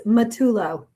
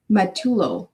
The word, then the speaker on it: Matullo: How do you pronounce your last name? Oh, it's Matullo. Matullo.